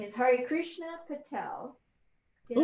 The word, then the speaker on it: Harikrishna Patel: His name is Harikrishna Patel. Did I pronounce ooh, that all right?